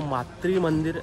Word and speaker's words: मातृ मंदिर: एक गलती हो गई है ऑलरेडी, मैं मातृ बोल रहा हूँ, वो मातृ मंदिर ऐसा प्रोनाउंसिएशन है उसका, मातृ मंदिर।